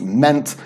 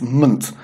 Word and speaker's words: ment: Meant, for example, isn't pronounced meant, it's pronounced munt.